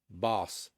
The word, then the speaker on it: Bauce: I assume Bauce rhymes with sauce.